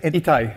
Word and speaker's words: Ittai: Ittai. Ittai.